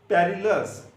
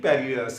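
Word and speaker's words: perilous: पहला वर्ड है पेरिलस, क्या वर्ड है पेरिलस, ये याद करने के लिए पेरिलस है, लेकिन प्रोनाउंसिएशन परलस होती है इसकी।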